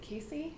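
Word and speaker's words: casei: So 3 of the species that are known for best immune support are Lactobacillus, Acidophilus rhamnus, and is it Casey? How do you say that? Casey, yeah.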